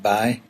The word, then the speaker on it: boy: We tend to say boy a lot in County Down, only we pronounce it bye.